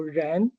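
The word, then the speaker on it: 人: between the character as a whole and corresponding pronunciation. So, Ren, right, it's pronounced Ren here and also the correspondence relationship between the character as a meaning.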